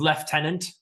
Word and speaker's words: lieutenant: Congratulations, Lieutenant. And they pronounce it the correct way. The weird way. Where's the The F in that correct. word? Where's the F in the lieutenant?